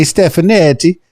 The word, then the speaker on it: Stefanetti: correctly stepan stefanetti stefanetti it sounds so Italian is it Italian that's right you got it I am half Italian